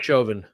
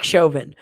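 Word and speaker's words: Chauvin: a a guilty verdict for how do you pronounce his name again uh derek joven derek shovin all right um and and a lot of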